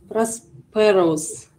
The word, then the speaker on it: prosperous: Wealthy, well-off, prosperous. Prosperous. Ударение на первый слог.